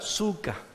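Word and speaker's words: sukka: la fiesta de sucot Cuál es el singular suca suca se escribe de la misma manera s u k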